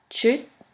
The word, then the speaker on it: Tschüss: The next letter combination is TSCH, TSCH, which is simply pronounced like a CH in English. Here we have the example of the word Deutsch, Deutsch, which means German, and of the word Tschüss, Tschüss, which means bye.